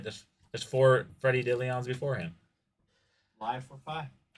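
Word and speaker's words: Dilione: Dillion. Freddy Dillion. The fifth. That's right. There's there's four Freddy Dillions before him.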